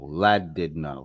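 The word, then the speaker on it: Llandudno: happen this afternoon Dan went to Lad laddo lad did no somehow l l n d u d n o is pronounced in English as lad did no so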